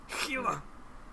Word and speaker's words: Gila: Gila. Cool. I played Far Cry 3, alright? That's how they pronounced it. Not like you can't English. Come on, man. First of all, it's not an English name.